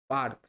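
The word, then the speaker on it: parque: কিন্তু পার্ক বলে কিন্তু স্প্যানিশ ভাষায় কিন্তু পার্কে বলতে হবে অফিস অফিসকে বলা লা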